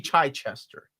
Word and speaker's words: Chichester: The man pronounces it D.G. Chichester.